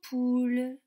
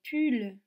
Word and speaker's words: poule: côté là c'est en poules en poule attention je ne dis pas en pull jeudi en poule est ce que vous entendez le ou dans le nord en poule oui dans quelle syllabes